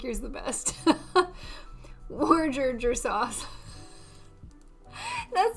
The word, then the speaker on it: Worcestershire: Go to Wikipedia and click the speaker next to pronunciation. Worcester sauce. Wikipedia. Worcester or Worcestershire sauce. Worcester.